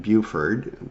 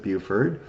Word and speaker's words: Beaufort: what would be modern day south carolina and buford it usually looks like beaufort but they pronounce it beauford um and and then of course this doesn't